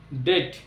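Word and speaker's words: debt: উচ্চারণের মধ্যে আনলাম না ঠিক একই ভাবে ডি ই বি টি ডেট তো যখন ওয়ার্ডে বি এর পরে টি চলে আসবে সেক্ষেত্রে আমরা ইটা বি কে সাইলেন্ট রাখবো নেক্সট সি এবার সি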